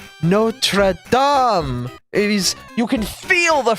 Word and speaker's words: Notre Dame: them you don't use Notre Dame and notredam yes may be the same spelling for the same type of words but we pronounce them explicitly different because they're explicitly different places notra is you can feel